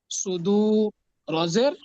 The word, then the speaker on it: صدور: তারপরে সদ পেশ সু, এটা মোটা হরফ, সদ কি মোটা হরফ না, এই জন্য এটা উচ্চারণটা মোটা হবে, সদ পেশ সু।